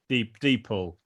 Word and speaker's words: DeepL: Is it Deep L or Deeple? Deeple.